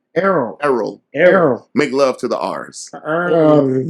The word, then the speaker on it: Errol: You always mispronounce my name. It's because you're from the DMV. It's Errol. Yeah, that's what I said, Earl. You said Earl. I said Earl. Errol. E-R-R-O-L. Earl is E-A-R-L. It's phonetic.